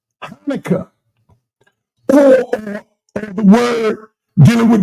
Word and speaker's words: Hanukkah: This word here, the CH is silent. Okay? You can pronounce it ka, but really it's silent, like in the word Hanukkah. Hanukkah.